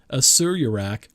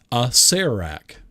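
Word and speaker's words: Acererak: I've been pronouncing Asuryarach wrong for many years. It's Asarac. I was almost there.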